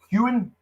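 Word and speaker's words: Heughan: Is it Hewen? Yes. That's the main guy. I just want to make sure I'm pronouncing his name correctly.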